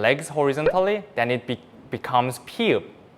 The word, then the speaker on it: ㅍ: But if 미음 stretch its arms and legs horizontally, then it becomes 피읍, 프 with a P sound.